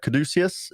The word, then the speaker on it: caduceus: tank top underneath that um and is uh caduceus is how you pronounce it caduceus um around his neck as